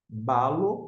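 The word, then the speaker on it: βάλλω: é o próximo termo Balo Balo porque aqui está a sílaba tônica esses dois L não tem nenhuma nuance como nos dois Gama acima que a gente viu anteriormente aqui é um verbo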